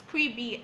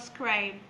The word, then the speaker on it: Scribie: It's scribie, SCRIBIE, scribie, not scribe.